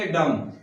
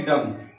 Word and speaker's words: dumb: तो इसको हम पढ़ेंगे डम। ठीक है, DUMB, बी का उच्चारण नहीं करना है क्योंकि एम के बाद में जो आ रहा है वो है बी, तो बी की हमें